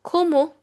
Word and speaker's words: comment: which means who and ko ko which means have. The spelling is same as comment but it is pronounced in French as ko ko means how.